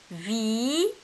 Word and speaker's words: visite: Ici, dans le deuxième mot, nous avons le son S ou bien la lettre S placée entre la voyelle I et la voyelle I. Elle est en milieu. C'est pour cela que nous allons la prononcer Z.